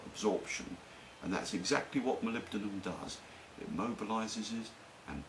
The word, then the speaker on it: molybdenum: No one can ever pronounce it. They call it molly-what. Well, it's molybdenum.